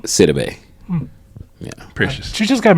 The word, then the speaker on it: Sidibe: How you pronounce her last name? Sidibe.